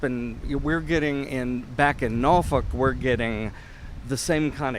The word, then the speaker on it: Norfolk: We pronounce it Norfolk. Norfolk.